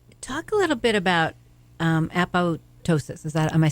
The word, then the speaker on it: apoptosis: this entourage effect talk a little bit about a pose ptosis is that am I saying it right yes so apoptosis is programmed cell death so it's essentially when